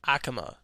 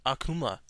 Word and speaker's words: Akuma: him okay number four is got to be Akama Street Fighter also pronounce it Akuma I like this guy